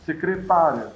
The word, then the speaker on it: secretária: Que na fala é óbvio, a gente escuta secretária, secretaria. A pronúncia deixa claro do que nós estamos falando.